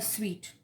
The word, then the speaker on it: suite: division is called a sweet it's not the street that you eat it is su ite which is pronounced as sweet so in some decks